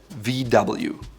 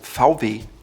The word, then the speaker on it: VW: You guessed it, VW. No, not quite. In German it's called VW, which stands for Volkswagen.